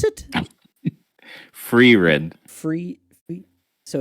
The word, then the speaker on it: Frieren: Ryan also had the fire and how do you pronounce it? Free-ren.